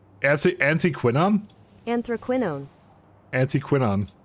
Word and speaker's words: anthraquinone: how we learn things anthraquinone an an quinon anthraquinone anti quinon there's only American pronunciation on it anti quinon okay I don't know